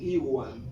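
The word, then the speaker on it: ihuan: Y cuando la H está antes de una vocal, es muda, como en iwan.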